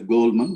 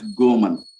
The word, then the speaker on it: Goleman: is pronounced not as goldman but as gomen l is silent so daniel goman i'm